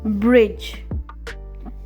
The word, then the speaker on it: bridge: Today we'll learn about a few words where the sound of letter D is silent. Badge, badge, bridge, bridge, edge, edge, grudge,